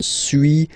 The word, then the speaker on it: suis: Okay, so first one, suis, as you've been noticing, you don't pronounce the final S.